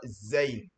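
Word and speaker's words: زاي: Attention, il faut bien prononcer cette lettre. On dit la lettre zin différent de la lettre zal.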